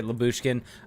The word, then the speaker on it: Lyubushkin: Lyubushkin?